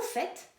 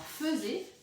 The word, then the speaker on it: faites: Vous faites, souvent on se trompe, on dit vous faisiez. Alors faisez, ça ressemblerait à faisons, mais ça n'existe pas.